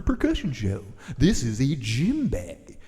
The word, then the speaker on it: djembe: This is a djembe. It's spelled with a D, but spelled like a J. It's djembe.